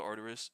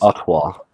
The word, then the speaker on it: Artois: Is that how you say it? Stella Arerus. Did I say Artois? Artoisa.